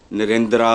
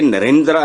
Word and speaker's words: नरेंद्र: जो आपने किया है नरेंद्रा मोदी यह सेमा साइलेंट होता है जो ए होता है मतलब आपने कभी सुना किसी से हिंदुस्तान में धर्मेंद्र धर्मेंद्र यह इसको इस तरह पख के नरेंद्रा नहीं इट इज नरेंद्र हल्का सा और धर्मेंद्र जितेंद्र कभी